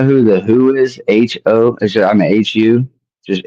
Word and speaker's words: HU: Just HU. It's a Mongolian throat singing band. Do you know who the Who is? HU among. It's like HU, like not the Who, but the band is just called Who.